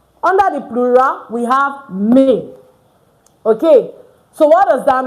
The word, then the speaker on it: mes: Instead, you use may. So, ne is not pronounced mess. Instead, it's pronounced may like m a y.